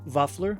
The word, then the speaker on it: vaffler: I'm telling you, once you try these Norwegian waffles, pronounced vafler, you'll understand exactly what I mean.